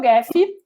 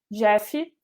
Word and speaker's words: Gephi: Mas uma das melhores que eu conheço é o Gephi, ou Gephi, se escreve Gephi, certo?